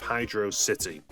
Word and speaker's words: Hydrocity: Ultimately, in this debate, I personally weigh down on the side of HydroSSity.